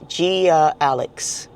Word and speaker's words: GiAiLex: It's GiAiLex. So I think if you think about it in your name, just the letter G, A, and Lex.